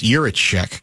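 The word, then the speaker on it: Jiříček: I think I've got the name pronunciation now. It's Juracek, correct? Juracek?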